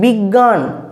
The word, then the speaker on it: বিজ্ঞান: বর্ণগুলো হয়তো আদেও নেই এই যে এখানে বিজ্ঞান বিজ্ঞানে তো আমরা উচ্চারণ করছি গ কিন্তু আসলে গ এর গ এর কোন লক্ষণই নেই গো এখানেতে তাই না বা আমরা